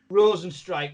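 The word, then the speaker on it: Rozenstruik: I mean, Joe Rogan is a Rosenstrike, right? Okay, but the way it's spelled, you wouldn't think that, would you?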